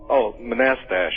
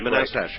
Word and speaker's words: Manastash: How do you pronounce the name of your town? Manastash? Manastash. Manastash.